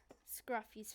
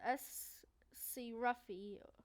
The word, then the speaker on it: Scruffy: One last thing I'd like to say is Scruffy's face. I really like that face. It says S.C. Ruffy, but it's actually pronounced Scruffy. That's what it says on his side, but it's pronounced Scruffy.